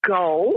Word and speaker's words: Gaol: It's pronounced goal, and it really is the same as jail.